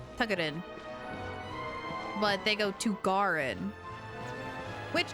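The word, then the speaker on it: Тугарин: That's why I really like Tugarin, which is how you say it in Russian, is Tugarin.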